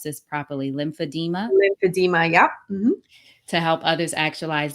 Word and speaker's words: lymphedema: Ayanna imparts her personal experience becoming a world renowned performer despite an ongoing battle with, now, how do I pronounce this properly? Lymphedema? Lymphedema.